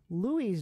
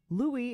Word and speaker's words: Louis: The name can be read two ways, either Louis or Louis. However, Louis is originally a French name, which makes the correct pronunciation Louis.